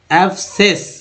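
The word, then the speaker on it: abscess: देंगे, साइलेंट, जी हाँ sir, silent, पूर्व तरह साइलेंट कर देंगे। और देखिए ये जो है आप यहाँ पढ़ेंगे एब्सेस, एब्सेस क्या पढ़ेंगे, एब्सेस, उसके बाद देखिए एब्सेंट,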